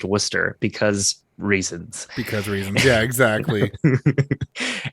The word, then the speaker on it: Worcester: worcester massachusetts which is spelled worcester but is pronounced worcester because reasons because yeah exactly and uh that's